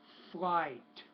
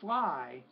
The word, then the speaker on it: flight: Space flight. Don't forget the T. Not space fly, but space flight.